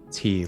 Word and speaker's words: Tia: come into view perfectly how is it pronounced tia or tea tea like uh like iced tea yeah tea along with